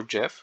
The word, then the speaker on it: GIF: well not that picture the gif or jiff however you want to pronounce this um into pretty much